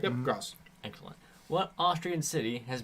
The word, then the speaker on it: Graz: That's pronounced Graz, Yeah. right? Yep, Gross.